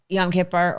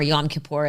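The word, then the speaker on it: Yom Kippur: explain to me uh yam Kiper or yam kapor as you're supposed to say it but I always say it wrong I go well let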